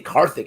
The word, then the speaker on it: Karthik: from harthik yesterday or it's not like i say karthik is how they pronounce his name but uh excuse me